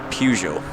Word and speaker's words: Peugeot: enter into The Fray Peugeot that is how I pronounce it by the way I'm Scottish we all pronounce it Peugeot not Peugeot without arguments about this